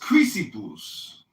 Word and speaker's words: Chrysippus: Cleanthes really go from Zeno to Chrysippus, I think, really had it kind of figured out. And then later It's pronounced Chrysippus.